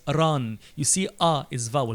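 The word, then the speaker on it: ⲣⲁⲛ: will pronounce it as Rin and the people who studied Coptic and they know the meaning of name in Coptic they will read it as ran you see ah is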